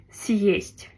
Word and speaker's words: съесть: Donc il y a bien le signe dur qui sépare le S du reste du mot. Donc on dit съесть.